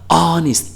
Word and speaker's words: honest: 그런데 honest를 사전에서 찾아봤더니 H는 소리가 나지 않습니다.